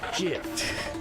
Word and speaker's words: GIF: It's pronounced GIF. Huh? .gif, like the peanut butter. The creator said so.